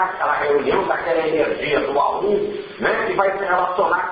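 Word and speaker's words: AUM: É o A1, que é a palavra homem. O A1 se escreve A-U-M, né?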